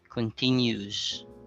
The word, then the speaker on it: continues: So this is different from the word that ends in UES. Continues. Continuous. Continues is a verb, while continuous is an adjective, like continuous paper.